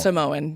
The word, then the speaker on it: Samoan: Samoan. Yeah, Right. like the cookies. Yeah. We need to get that out there, okay? For everybody That's listening, true. it's Samoan. Yeah, Samoan. Samoan. Samoan.